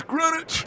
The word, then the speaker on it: Greenwich: Well, first of all, say it right. It's Greenwich.